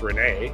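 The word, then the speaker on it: Resnais: 2014, French film director Alain René, I have to pronounce this in French, R-E-S-N-A-I-S, must be pronounced René, right?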